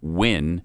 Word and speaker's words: Nguyen: If you wouldn't have known how to pronounce Nguyen as Wynn, right, you would have been just a pathetic bigot, racist, hate monger.